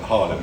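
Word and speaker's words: Haarlem: for me it's in Harlem Harlem yeah it sounds like New York but it's not New York it's still doing nothing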